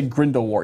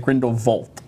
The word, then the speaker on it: Grindelwald: He didn't say Grindelwald, he said Grindelwald. So does it? Which is a huge connection, because I'm just like, you changed the accenting, but the accenting changed the word altogether, because Voldemort can still be pronounced Voldemort. But the fact that he changed it to the instead of Wald, it was Vald, and I'm just like,